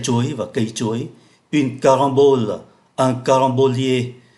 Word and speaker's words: carambole: Une carambole, un carambolier. Ở đây chúng ta cũng để ý tới cách phát âm của ký tự M. Caron phát âm là N bởi vì đứng trước ký tự B.